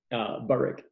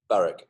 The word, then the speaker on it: Burik: So Burik, am I pronouncing it correctly? Burik? Burik. Burik.